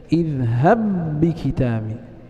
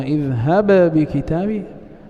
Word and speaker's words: اذهب بكتابي: فلاحظ أننا ننطق بباء واحدة مشددة اذهب بكتابي ولا نقلقل الباء الأولى، فإذا قلنا اذهب بكتابي هكذا لم ندغم.